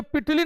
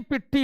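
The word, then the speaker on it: Pitti: देखो ये पिटली नहीं, पिट्टी है, ठीक है ना, इसको पिट्टी कर लीजिए, तो ये पिट्टी होगा इसका, तब सही होगा।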